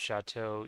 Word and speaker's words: chateau: the way you pronounce chateau, E-A-U, is like an O sound, because I never really understood, why chateau was written that way in English, but was pronounced that way.